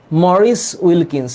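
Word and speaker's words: Maurice Wilkins: sir chromosome chromatin আর chromatid কি আমি আসতেছি মরিস উইলকিন্স আব্দুল্লাহ আল সায়েদ উচ্চারণ হচ্ছে মরিস উইলকিনস আরেকটা হচ্ছে রোজালিন ফ্র্যাঙ্কলিন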